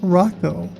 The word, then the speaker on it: Rojo: And then this is from a poster right here pronounced Rocco. So Bear Rojo likes to be called Rocco apparently.